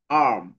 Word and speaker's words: arm: মানে আর এর উচ্চারণটা একটু হবে না, কম। আর্ম, আর্ম, আর্ম। মানে তোমার জিহ্বার মতোই পেঁচাইতে হবে আর কি, আম বলা যাবে না আবার, আম না, আর্ম, আর্ম, star, star, star, খার, খার, খার।